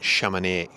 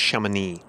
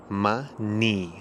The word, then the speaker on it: Chamonix: I think I was calling it Chamonix. No, it's Chamonix. So it's Chamonix. Chamonix, like your knee.